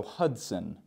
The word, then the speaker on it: Hudson: And for this town, the S-O-N, we want to pronounce it more like sin. So Hudson.